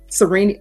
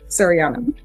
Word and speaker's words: Sariana: Serini, how do you pronounce it? Sariana.